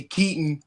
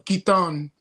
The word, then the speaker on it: Katon: And this week we have Kaitton Dea of Hierax among others which we will get into shortly. So welcome Kaitton.